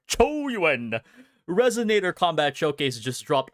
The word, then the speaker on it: Qiuyuan: I'm literally my waves right now because the new Chuen, sorry, I got to pronounce it correct. Chu Yuen resonator combat showcase just dropped.